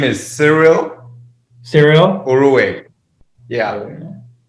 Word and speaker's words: Cyril: My name is Cyril Cyril? Urue. Yeah. It's pronounced Cyril. Some people pronounce it Cyril, or some kind of drag it out and say Cyril, or make it shorter, that is.